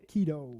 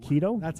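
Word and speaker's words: Quito: okay so yeah yeah the answer is uh Kido Kido that's how you pronounce I say you as though I never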